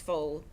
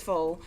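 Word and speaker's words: folles: The quarter was famous above all for its foal, and this is spelled F-O-L-L-E-S. It's a French word that Charles pronounced perfectly. The quarter was, I appreciate that. The quarter was famous above all for its foe, who were not specific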